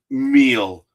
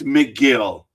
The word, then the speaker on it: Megill: Nationals pulling over McGill, Megill, Megill. It's probably meal. The guy probably pronounced it meal. It's McGill.